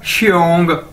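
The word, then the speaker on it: 兄: Next है जी हमारे पास एक्स, आपको पता है हम किस तरह प्रोनाउंस करते हैं, किस तरह, शीन की तरह, ठीक है, श, तो एक्स आई ओ एन जी क्या बन जाएगा, श्योंग श्योंग श्योंग श्योंग, ठीक है, श्योंग।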